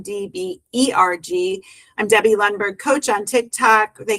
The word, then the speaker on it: Lundberg: They can follow me anywhere, Debbie Lundberg, which is spelled L U N DB RG. I'm Debbie Lunberg Coach on Tik Tok.